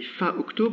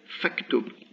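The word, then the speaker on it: فاكتب: front of it, and I don't say fa uktub, but say faktub.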